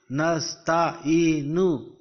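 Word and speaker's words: نستعين: Because the ayat is going to be ended here, so you will not pronounce the pesh of noon. You will simply pronounce it Iyyaka na'budu wa iyyaka nasta'in.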